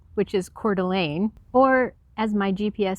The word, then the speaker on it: Coeur d'Alene: is pu olip fond oreo which is pandarei coeur de lin which is coeur d'alene or as my gps says the dallas which